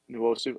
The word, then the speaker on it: Nwosu: Do you pronounce the N? Yeah, a little bit. Yeah, you do. You Nwosu. You started with that. Yeah. Nwosu.